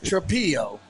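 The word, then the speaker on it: Trapilo: It's Trapillo. Trapillo. Mia Mario. Yeah, one L. Brags. I'm sorry. What does that mean? That means it's not Trailo. It's Trapillo.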